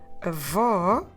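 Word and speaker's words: avó: what we do is those two sounds we put them into a open ah and even if you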